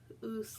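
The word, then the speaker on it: ūs: The next one is oos, like moose, like the animal, the moose.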